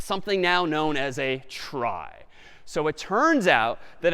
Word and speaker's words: trie: a fancier tree and it's short for retrieval but pronounced try for weird historical reasons but a TR is